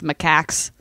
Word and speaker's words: macaques: this already, but you were correct in the pronunciation of macaques.